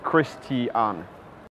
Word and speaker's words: Kristian: I prefer Kristian because that's the name that my mum gave me, and I want to honour the full 3 syllables, Kristian.